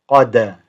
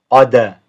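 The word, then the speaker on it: قد: Qad. Again, if the dal it's got a sukoon, it makes a bouncing noise. Qalqala. Qad. So just make a note of that. One more time. Qad.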